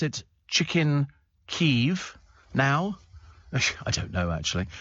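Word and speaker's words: Kyiv: a television program Phil says don't don't we pronounce it chicken keev now I don't know actually sabes have become the first to rename ke to Kiev they've spelled it KY i v yeah which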